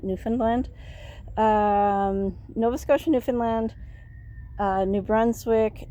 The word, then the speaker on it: Newfoundland: I had a conversation with a person from the Maritime provinces, that's Nova Scotia, Newfoundland, or Newfoundland, but a lot of us pronounce it Newfoundland.